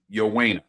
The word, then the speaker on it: Ioane: Yowena is how it's pronounced. Why, of course. I mean, his last name's spelled Ioane.